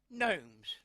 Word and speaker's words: gnomes: This lady makes these little gnomes. I call them gnomes, but I don't think you've pronounced the G.